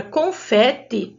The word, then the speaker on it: confete: A palavra confete, no singular, ela está marcada com a sílaba fê, mas na hora de ler a palavra, o som do E é aberto.